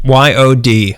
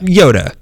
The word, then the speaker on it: Yod: Spell it for me. Y-O-D. Yoda. Yoda. Yod. Yeah.